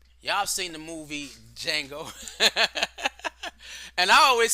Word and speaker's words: Django: I've seen the movie Django and I always say the Django and then in my head I hear him saying the D is silent but this is that